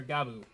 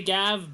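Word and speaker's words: Gavv: common writer gab or gabo gaboo it's spelled with two v's so you want to say gav but it's pronounced like gab not gab V or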